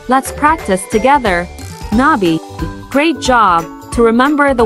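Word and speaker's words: 나비: the beauty of nature pronouncing Nai involves a soft elongated n Sound followed by a brief by let's practice together Nai great job to remember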